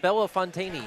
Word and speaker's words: Bellefontaine: might be B something it's not bait Christy Bella Fontaine yes that one probably one with one less